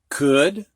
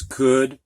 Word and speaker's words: could: matter of fact where o u is pronounced ow usually but not in these words could would and should all right next one